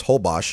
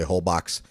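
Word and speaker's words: Holbox: that um and then the last one is hos and if you're wondering it's spelled h o box so a lot of people usually come here they say whole boox and where that whole box and we were one of them we did like how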